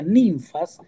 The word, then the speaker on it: Ninfas: también había un hombre llamado nfas que se pronuncia ninfas el cual siendo adinerado